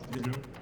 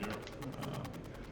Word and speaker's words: Myhr: Is that how you pronounce it? Yeah, Myhr? Okay. It sounds like a Scottish surname, Myhr.